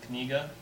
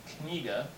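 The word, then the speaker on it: книга: Like this letter here, it looks like an H, it's pronounced N. So this is kniga.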